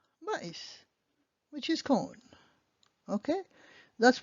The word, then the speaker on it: maïs: So you also have M-A-I-S, pronounced mais, which is but in English, or maïs, which is corn. Maïs, which is corn.